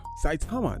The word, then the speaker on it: Saitama: my goodness I'm really struggling with the name pronounce this this this Criterium the satima I think it's it's sa saitama saitama there we go the the saitama Criterium in